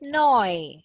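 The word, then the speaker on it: neu: say mine handy is noi noi means new yeah noi and eu noi means new mine handy means my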